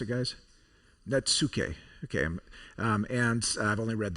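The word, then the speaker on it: netsuke: It's a form of Japanese wood carving, which is, how do we pronounce it, guys? Natsuke.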